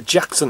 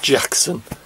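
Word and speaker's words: Jaxon: with that one and it is Jackson with it see that J a XO n I presume it's pronounced Jackson anyway this is the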